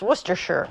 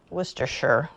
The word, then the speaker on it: Worcestershire: I know that this even though is spelled as Worchester Shire I know it's to pronounce werer I just kind of gloated every time I said the word wer sure because I felt so